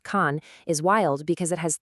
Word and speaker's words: 残: The character, pronounced Khan, is wild because it has three meanings all at once: remaining, cruel, and damaged.